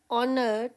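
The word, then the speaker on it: honour: Next one इट वाज़ ऑनर to meet you. जैसे आवर में H silent ऑनर में भी एच साइलेंट।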